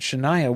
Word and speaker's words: Shania: And Shania will sing. I cannot process the way her name is spelled. Yeah, because it's like Shin-Nia. Yeah, Shania.